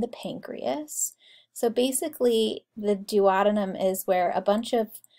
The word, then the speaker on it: duodenum: looks like a c that is the duodenum or you could pronounce it duodenum either one and the we'll talk